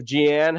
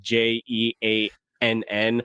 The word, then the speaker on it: Jean: It always worries me when like names are spelled like J E A N. I hope it's Gian. Am I saying that right? Oh, it's Jean.